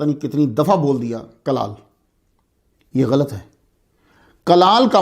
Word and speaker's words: کُلال: کلال، پہلے تلفظ پہ غور کر لیں آپ۔ چھوٹی کاف کے ساتھ ہے، چھوٹی کاف کو اصطلاح میں القاف المعارہ بھی کہتے ہیں۔ چھوٹی کاف کلال، اصل تلفظ جو ہے وہ کاف پہ پیش ہے۔ کچھ لوگوں کو میں